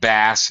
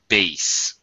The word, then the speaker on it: bass: The, I know it looks like bass in English, but it's actually pronounced bass.